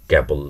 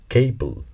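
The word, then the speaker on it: cable: তেমনি ক্যাবল, তার এর ইংরেজি ক্যাবল নয় কেবল।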